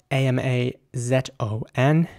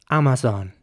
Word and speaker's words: Amazon: brand who doesn't and in British English this will be pronounced Amazon Amazon with the a at the beginning is pronounced like an R and the a in the middle as well and the zone at the end is quite soft Amazon Amazon thingy